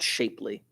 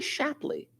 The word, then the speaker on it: Shapley: or the shapely shubik no it's not shapely it's got to be shapley yeah today i'm feeling